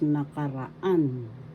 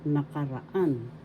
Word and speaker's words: nakaraan: third syllable rah syllable the fourth syllable has the accent so you pronounce this or because nakaraan nakaraan past tense panahunan kasalukuyan